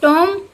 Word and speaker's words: tomb: kings for such a tomb, इसका pronunciation टूम होता है, would wish to die।